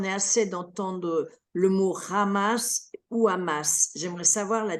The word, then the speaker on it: Hamas: arabe en fait euh beaucoup euh disent ou amass ouiass c'est parce que c'est à la française c'est dit à la française c'est tout simplement voilà mais nous on le prononce ramas ah d'accord en arabe